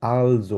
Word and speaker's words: also: আরেকটা হাসিব ভাই বললেন হচ্ছে অলসো, এটাকে অলসো বলে না। দেখতে যদিও ইয়ের মতো লাগে, অলসোর মতো লাগে ইংলিশে, কিন্তু এটা অলসো বলে না, এটাকে বলছে আলজো বলা হয়।